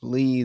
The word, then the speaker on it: Li: pronouncing names wrong they're they're saying lie instead of Lee the the character's name